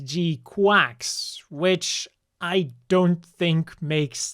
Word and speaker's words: GQuuuuuuX: this is it and if you look at the Japanese it's supposed to be pronounced as G quax which I don't think